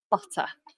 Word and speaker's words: butter: Again, we're not going to pronounce the R unless the following word begins with a vowel sound.